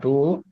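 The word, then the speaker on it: Boele: Nichollet B, that's how you pronounce it.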